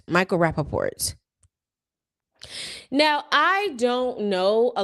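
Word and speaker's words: Rapaport: Then we have Michael Rapport. Am I pronouncing his last name correctly? Yeah. Rappaport. Michael Rappaport.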